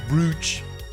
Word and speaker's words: brooch: It's pronounced brooch.